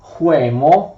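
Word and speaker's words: Chełmno: Pomerania, ma anche la regione di Huemo, che si scrive Celm, no, ma si legge Huemo, e in tedesco si chiama Kulm.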